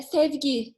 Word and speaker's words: Sevgi: we can't hear you am i pronouncing your name correctly uh steve key yes and herschel right hey okay